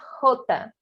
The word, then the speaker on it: jota: Por isso que o nome é Jota, certo? Porque o som dessa letra também vai ser como se fosse um R.